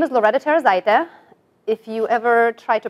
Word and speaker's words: Loreta Tarozaite: In Lithuanian, my name would sound like this, Loreta Tarozaite. So it has a rolling R.